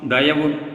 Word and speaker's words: Dayavu: Let the soul life of divine D-A-E-I-O-U, Dayavu, pronounced Dayavu meaning true compassionate love towards our fellow beings, fill in all our mind, thought and word as well as the acts therefrom.